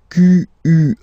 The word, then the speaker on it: quelle: Quel, masculine form here, will be pronounced exactly as the feminine form here.